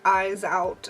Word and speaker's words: Iseult: Okay, so if you're Irish, it's eyes out, and if you're French, it's Iseult. For me, it looks more like Iseult, so I'm gonna say Iseult.